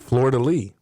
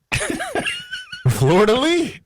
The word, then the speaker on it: fleur-de-lis: fleur-de-lis and it said Florida Lee I said ah dag well because you thought I thought Florida Lee was spelled like the State of Florida and l-e-e fleur-de-lis makes perfect sense to me and